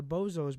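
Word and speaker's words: Bezos: You know what the great old question for me is it Boz or is it Bozos? That's the thing. It's actually pronounced like Boz, and Yeah.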